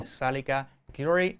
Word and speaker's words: Zalika Guillory: Me place presentar y estar aquí esta noche grabando con nosotros en el estudio de Webneticos estudio a Liman y Zalika Guillory.